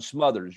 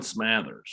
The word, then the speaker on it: Smathers: does Tennessee stand with, I think it's Dallin Smothers. You're saying Smathers? Dalen Smathers. All right, I got it all wrong. All right, it's not how it looks like it's spelled to me.